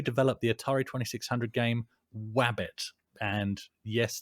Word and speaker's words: Wabbit: the Atari 2600 game Wabbit. And yes, that is pronounced with a W, guys. Wabbit.